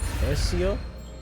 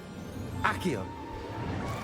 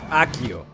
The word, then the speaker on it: Accio: Alright, so Ezio? Or is it Akio? Or is it Akio? How do you say that? Accio. Akio. There we go.